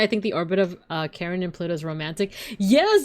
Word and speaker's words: Charon: For those who don't know, like Pluto has a moon called Karen. Not Karen like with a K, but like it's spelled like Charon, but it's pronounced like Karen.